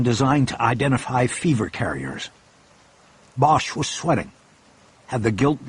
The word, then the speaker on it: Bosch: on a computer screen Bosch couldn't see you have business in Hong Kong Mr botch the inspector asked he had somehow butchered the single syllable of Bosch's last name making it sound like botch no Bosch said my